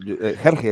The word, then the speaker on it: Hergé: Ajá, bueno, Hergé es como se dice en español, si no me equivoco.